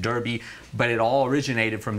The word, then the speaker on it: Derby: race after himself the Darby and then races for three-year-old horses started spreading all through Europe in the United States we pronounce it Derby but it all originated